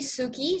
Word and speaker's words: Sueki: name is actually Suki so he is my surname and yes it's pronounced Suki sounds Japanese but it's really not okay yeah sorry what